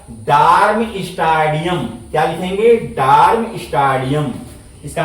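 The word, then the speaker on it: Darmstadtium: state लिख दिए बच यहां टी साइलेंट होता है टी लगा देंगे और इसके बाद ईम जोड़ देंगे ईम आई यू एम जोड़ देंगे और यहां ध्यान देंगे टी साइलेंट रहता है तो बताइए इसका नाम क्या हो जाएगा डर्म स्टेडियम क्या लिखेंगे डर्म स्टेडियम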